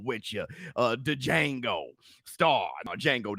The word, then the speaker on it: Django: The Django Star, Django the D is silent.